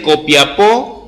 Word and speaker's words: Copiapó: los que sean de Copiapó, pero con acento en la O.